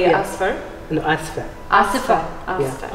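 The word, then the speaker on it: آسفة: Oh, you have, as a lady, you have to say asfa. Asfa. Yeah, I would say muha. Muha. Samuha. No, I would say yeah. asfa.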